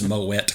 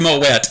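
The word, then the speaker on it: Moët: he references champagne and he pronounces moette correctly because it is in fact moette and not Mo despite what you may have heard so uh we'll uh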